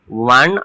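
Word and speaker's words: one: First ওয়ার্ডটাকে দেখি, ও এন ই, ওয়ান eyed man. তো এই দেখো ও এন ই উচ্চারণটা হচ্ছে ওয়ান, ওয়ান বানান আমরা কি লিখি?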